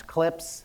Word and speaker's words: CLPS: going to hear the the acronym clps which people pronounce clips clips Landers to the Moon